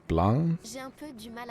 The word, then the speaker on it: blanc: L'arbre rouge et blanc. Don't pronounce the C in so blanc.